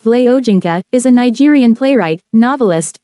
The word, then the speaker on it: Wole Soyinka: Born 13 July 1934, known as Wole Soyinka, pronounced Vle Ojinka, is a Nigerian playwright, novelist, poet, and essayist in the English language.